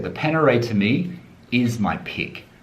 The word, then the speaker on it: Panerai: panera right now and it's not peneray i know it's panerai you know i'm australian we always pronounce things incorrectly it's panerai don't tell me in